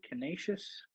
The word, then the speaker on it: Canisius: So we're going to go with, how do you pronounce this, Tito? Canisius.